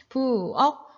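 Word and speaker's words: 부엌: 부억. 키읔 받침이죠. 키읔 받침은 기역으로 발음해라 그랬으니 부억 이렇게 발음하면 되겠습니다.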